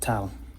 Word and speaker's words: tav: In modern Hebrew, it's tav, and in the chosen pronunciation of Hebrew and in Sephardic Hebrew, it's called tau.